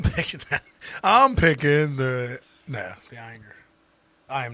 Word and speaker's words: Ayinger: So we are pitting fifth season against Ayinger.